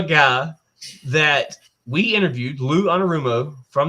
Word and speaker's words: Anarumo: How do you pronounce that name, Robert? Lou Anarumo. Anarumo.